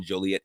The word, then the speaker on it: Joliet: We failed to give a shout out to the wonderful people at WJOL 1340 AM in Joliet, Illinois. And notice we pronounced that right, because as we told you